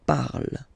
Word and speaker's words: parle: put the ending e, and then the way to pronounce it is je parle. Parle. So remember, we put it, okay, but then we don't really pronounce it.